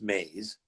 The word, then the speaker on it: Moews: So dot Moews, which weirdly is pronounced maze.